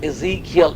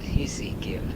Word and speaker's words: Ezekiel: The proper pronunciation is Ezekiel in English. Ezekiel. E-Z-E-K-I-E-L. Ezekiel. In Swedish is called Hezekiel.